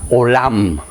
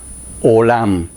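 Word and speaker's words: עולם: Eternidad se pronuncia olam, olam.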